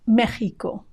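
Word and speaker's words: México: In Spanish, the word for Mexico is Mexico, Mexico, with a G sound spelled with an X.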